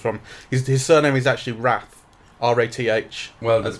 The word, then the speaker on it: Rath: His surname is actually Rath. R-A-T-H. Well, that's pronounced right.